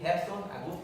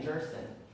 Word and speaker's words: Gerson: And when I was going to school, I remember my dad telling me, you have to pronounce your name Gerson. And I'm like, what is it Gerson? Yeah, that's how Americans say it.